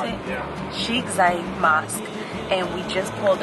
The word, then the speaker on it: Zayed: Is that how you pronounce it? Yeah. Sheikh Zayed Mosque.